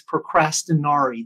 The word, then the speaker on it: procrastinari: Procrastination in Latin means procrastinari. That's the pronunciation of the word.